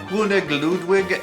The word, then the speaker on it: König Ludwig: Now, König Ludwig is the German way to say King Ludwig. I probably pronounced that pretty horribly.